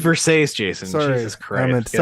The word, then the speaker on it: Versace: It's pronounced Versace, Jason.